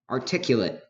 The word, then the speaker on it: articulate: Articulate, pronounced articulate. Articulate. Notice that breathy T.